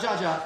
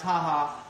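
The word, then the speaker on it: JAJA: pronounce that Ryan haha this haha J it's not judge' its haha chainsmokers tequila they hooked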